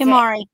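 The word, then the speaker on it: 手毬: It's tamari ball.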